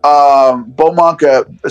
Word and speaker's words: Beaumonk: Beaumonk. So it's a BAUXMONK. That's how you say it, all one word.